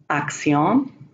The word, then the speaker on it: acción: When there's a double C, it's like an X or a CT as an action. Acción, elección.